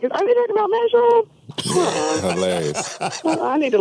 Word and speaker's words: Schaub: I just wanted to tell you, from Houston, it is pronounced Matt Schaub, not Schwab. That was Marques Johnson. Matt Schaub.